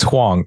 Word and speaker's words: Huang: How did I pronounce that right, Deren? It's Huang, yes.